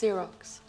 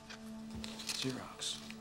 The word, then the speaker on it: Xerox: It's pronounced Xerox. Xerox.